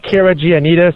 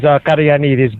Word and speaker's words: Caragiannides: It's pronounced Caragiannides. That's the English version. Okay. And the Greek version is Caragiannides.